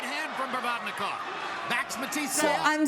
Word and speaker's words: Provodnikov: This was back in 2015 when you were reffing for Lucas Mathiase, I think I'm saying that wrong, and Ruslan Prodonovikov. Did I say it right? Provodnikov against Matisse.